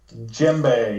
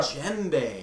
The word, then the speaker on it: djembe: Djembe. Yep. Djembe. Here we it go. does have a D at the beginning. Djembe. That's the D is silent.